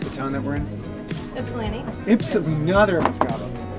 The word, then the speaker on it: Ypsilanti: Actually, if anyone can pronounce the town more directly right now, I'll give them... Yipsilanti.